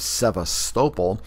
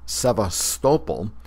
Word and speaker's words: Sevastopol: present-day Crimea is located 3 miles east of Sevastopol, a major port on the Black Sea.